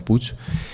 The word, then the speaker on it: Puig: español que se llama Luis Alfonso Puig, aunque ellos lo pronuncian puch y y es impresionante.